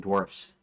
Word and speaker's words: dwarves: I think of it that's how I pronounce it I pronounce it dwarves I don't pronounce it dwarfs that so find dwarf's